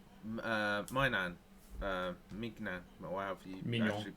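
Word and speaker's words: Maignan: Like a lot of people say, Mignan, or however you Mignon. actually Mignon. properly pronounce Mignon.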